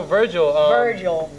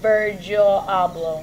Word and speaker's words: Virgil Abloh: you saying about vert vert oh yeah so Virgil Argyl I woodbridge I'm sorry I want to say his name right okay yeah its original / job Virgil abloh yet you met him a couple times yeah